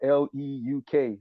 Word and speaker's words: Leuk: Just found out that light is rooted in this word that's spelled Leuk, like Luke.